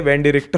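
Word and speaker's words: Wendi Richter: अब यार यहां पर क्या होता है कि वेंडी रिक्टर का मैच हो रहा होता ब्लैक स्पाइडर के साथ। हाँ, मैंने पहले इनका नाम गलत प्रोनाउंस कर दिया, वेंडी रिक्टर नाम है इनका।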